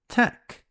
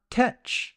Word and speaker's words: tech: we have the word Tech this is short for technology be careful with the pronunciation it's not tet it's Tech the word without is